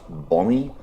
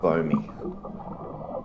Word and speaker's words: bombie: And yes, it's pronounced bommy for my American viewers, not bowie.